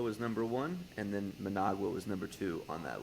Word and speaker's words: Managua: I had never heard of Managa is how you say it.